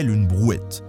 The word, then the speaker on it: brouette: around in a cart called brouette (pronounced 'bru-at') Whereas transport of passengers